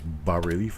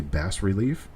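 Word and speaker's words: bas-relief: thank you very much you do not pronounce the s it is ba relief i've heard people say bass relief it is not bass relief it is not base relief base has two s's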